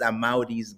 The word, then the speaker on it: Amaurys: really pronounce it is when you say I'm outie, like I'm outie, just add an S to that. So I'm Amaurys. You already know. So that's an easy way to remember.